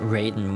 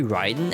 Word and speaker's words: Raiden: Like, Mortal Kombat pronounces it Raiden when it's supposed to be Ryden and it actually drives you over the wall.